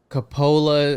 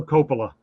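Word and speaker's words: Coppola: we have Francis Ford I think it's Capa I've always said it wrong well how do you say it for Copa Copa and he one of my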